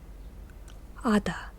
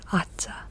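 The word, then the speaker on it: Aza: Ada is how you say it. It's not Atza. It's A-Z-A is how it's spelled.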